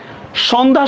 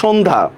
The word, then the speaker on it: সন্ধ্যা: সন্ধ্যা, অধ্বনির পরে জফলা, এই জন্য এটা কি ওর মতো হবে না?